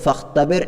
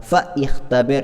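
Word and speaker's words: فاختبر: അപ്പോൾ ചേർത്ത് വായിക്കുമ്പോൾ ഫഖ്തബിർ എന്ന് മാത്രമേ നമ്മൾ പറയാവൂ, ഫ ഇഖ്തബിർ എന്ന് പറയാൻ പാടില്ല, ആ ഹംസ ഉച്ചാരണത്തിൽ വരാൻ പാടില്ല എന്നർത്ഥം.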